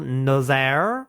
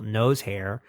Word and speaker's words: Nozaire: Another new addition, taking place of Chief Quimby, who is a informant now, but is also retired, is Colonel Nozaire, who is often mispronounced as Colonel Nosehair.